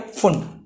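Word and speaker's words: Pfund: इसको क्या बोला गया, फुंड, पी फुंड बोला गया वैसे तो, फुंड, पी फुंड, ठीक है। पी साइलेंट यहां पे ध्यान रखना, ठीक है।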